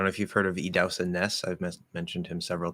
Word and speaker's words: Idahosa: I agree with, I don't know if you've heard of Idausa Ness. I've mentioned him several times. His name is spelled Idahosa, but it's pronounced Idausa, and last name Ness.